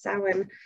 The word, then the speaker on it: Samhain: see it printed it's spelled samhain but it's pronounced salmon uh so that's a little fun fact for